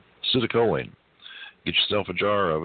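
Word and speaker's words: citicoline: Um, it's spelled C I T I C O L I N E. Sitoline.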